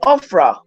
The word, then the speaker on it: Ophrah: oak, which was in Ophrah. Oh, this almost spelled like Oprah, but it has an H, an extra H, so it's Ophra.